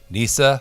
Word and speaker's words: Nissa: always have to say Nisa rhymes with Lisa rhymes with tiger that's how you know